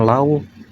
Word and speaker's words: loba: Ini kan agak susah. Kadang dibacanya lawu, kadang dibacanya lo. Jadi ya kita harus ditebak-tebak apakah konteksnya ee sama gitu. Tapi karena enggak ada bunyi kayu ba ya pasti ini dibacanya loba.